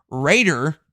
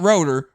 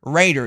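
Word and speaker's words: Roeder: Northwood which is Anna Raider not rer Raider it's spelled r o e d e r but it's actually pronounced as Raider I'm pretty sure she's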